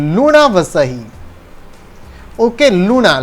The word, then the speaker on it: Luna: Okay, लूना, लूना का spelling LUNA है। You should not read it एज ल्यूना, ल्यूना, ल्यूना नहीं पढ़ना है।